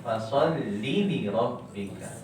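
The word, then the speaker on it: فَصَلِّ لِرَبِّكَ: Fasolli enggak panjang. Fasolli li rabbika.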